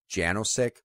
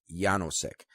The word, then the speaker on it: Janosik: Now, the way his name is spelled, and the way I always heard it pronounced growing up, was Janosik, because it is a last name, and I remember I went to school with a guy whose last name was spelled the same way, but it was always pronounced Janosik. But from what I understand, the correct pronunciation is Janosik, and I'll tell why in just a moment.